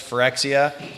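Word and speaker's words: Phyrexia: latest and greatest the newest set which is forexia right I'm pronouncing it correct yes for xcl all will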